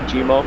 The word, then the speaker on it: Jimmer: and it sounds like Jimmer, Jimo, and that's how people kind of pronounce my name over here. They can't really pronounce the ER, so they say Jimo, and it means lonely,